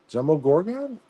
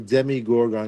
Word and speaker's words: Demogorgon: Demogorgon? Is that how you say it? I thought it was a Demigorgon. That's Demogorgon.